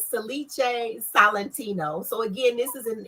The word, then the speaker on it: Salice Salentino: So it is pronounced Salice Salente. Salice Salente. Wait a minute, let me say that over. Salice Salentino. Okay, yeah, okay. Salice, she's getting tongue tied. That's all right. Salice Salentino.